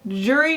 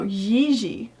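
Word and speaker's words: Jiří: I mean, can you blame us for thinking it's Jiri Trnka? But no, Jiri.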